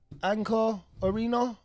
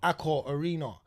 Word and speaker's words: Accor Arena: Anchor, before I say it wrong, and everyone gets at me and starts saying I can't spell. Accor Arena. Yeah, I said it.